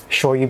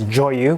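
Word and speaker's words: 醤油: So like shoyu becomes joyu when you add like wasabi joyu or nira joyu. That's usually something added to shoyu.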